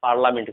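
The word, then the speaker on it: parliament: पार्लियामेंट नहीं होता है, पार्लियामेंट होता है, पार्लियामेंट से पढ़ते हैं, आई साइलेंट यहाँ पर होता है, ठीक है।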